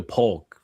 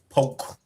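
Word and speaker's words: Polk: You got to say it right. Poke. Yeah. Now that K silent it's P it's P county I say Grady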